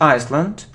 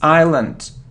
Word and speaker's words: island: this word it isn't Iceland no it isn't Iceland it's Island we don't pronounce so it's Island okay good So It